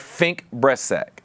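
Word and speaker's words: Fink Bressack: Is it Fink Breastsack? Did I say that right? I want to make sure I say that right. That's right. No, Okay, right.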